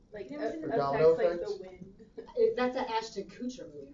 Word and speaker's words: Kutcher: That's an Ashton Kutcher movie, right? Is that not who you say his name? Kutcher. Kutcher? Kutcher. Is it Not Kutcher? Kutcher. Whatever. Ashton Kutcher. It rhymes with butcher.